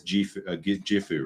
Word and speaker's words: Gifu: Then I did I did a 2-week high school trip to a place called Gifu. Or I guess Gifu, right? For Americans, I guess. Because that's how you pronounce it.